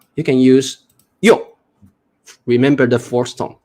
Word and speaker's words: 有: When you are responding to the teacher, you say 有. We use the fourth tone.